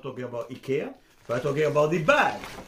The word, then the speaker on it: Ikea: that the name is Ikea Ikea that actually in Swedish is not pronounced like you do in English you pronounce you better